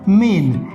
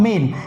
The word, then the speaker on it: mane: Okay, third word is also pronounced as मेन। इसको भी बोलते हैं हम मेन, लेकिन स्पेलिंग पर गौर करिएगा।